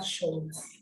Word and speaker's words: Scholz: This S, we shall see probably in our next lesson, that is when we shall learn the alphabet. We shall see why we pronounce this as a she sound.